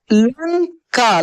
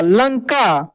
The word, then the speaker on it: लंका: ये ऊपर सब में न के रूप में उच्चारण हुआ है। किसमें? न के रूप में उच्चारण हुआ है। जैसे लंका, लंका, कंस, कंस, हंस, हंस बोलकर भी देखिए न का उच्चारण होगा, हंस।